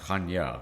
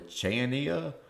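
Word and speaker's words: Chania: Is spelled C H A N I A if and you know the Latin alphabet. And some people say, "I'm going to Cha. I'm going to Chenia.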